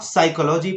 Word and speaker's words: psychology: जैसे आप साइकोलॉजी पढ़ते हैं तो साइकोलॉजी का जो वर्ड का जो शुरुआत है वो है PSYCHOLOGY। तो फिर भी आपको पढ़ना होता है साइकोलॉजी।